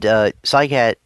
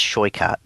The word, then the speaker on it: Saikat: And Saikat, or Saikat, that's not his name. See, that's how you think it's pronounced. It's not. It's Shoikat. That's how you pronounce it. That's how he pronounces it in his videos.